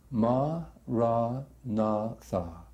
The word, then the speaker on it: Maranatha: you choose that word say it like this is four syllables ma rah Natha ma our narva and as